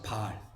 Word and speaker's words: 바알: 바알. 자, 남편도 바알이고 우상을 섬겼던 것도 바알이에요. 자, 예수님께서 남편이라고 할 때 바알은 뭐냐면요. 길게 발음하는 거예요.